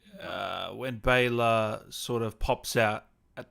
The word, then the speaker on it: Bela: meaning uh someone asked is it pronounced baylor so b-a-y-l-a i guess it is yeah yeah it's like it's like like bay or like b-a-y yeah bay and then l-u-h bayla oh okay yeah yeah